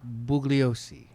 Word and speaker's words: Bugliosi: Vinny, what comes to mind when I say the name Vincent Bugliosi? If I pronounce that correctly. You did.